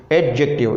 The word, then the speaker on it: adjective: एडजेक्टिव, D silent होगी और एडजेक्टिव।